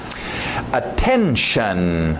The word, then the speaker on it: attention: Attention, lembra do shun, esse T-I-O-N no final, né? Notion, station, relation, dedication. Shun, aquele som de X-A-N, shun.